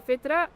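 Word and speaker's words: فطرة: Yeah, the fitra. The fita. Did I say it right? Yeah. Okay. That is in us. That is a good indicator. If you've lost your fita for some reason, Fitra.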